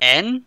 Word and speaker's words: en: En? Yeah. Tva? De. No, no. En. I know there's some weird pronunciations.